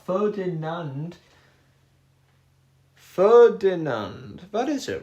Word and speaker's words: Ferdinand: Ferdinand. That is it right. Ferdinand. I think maybe I said Fernidand before. It's F Ferdinand.